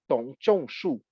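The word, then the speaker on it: Dong Zhongshu: I see that you know the Kongyang Zhuang interpretation, because Dongzhongshu was Dongzhongshu, to pronounce correctly, was a major philosopher linked to the Kongyang interpretation precisely.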